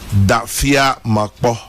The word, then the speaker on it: Dafia Makpo: So Dafia Makpo is pronounced Dafia Makpo. Okay. The F is pronounced like you pronounce Aflao.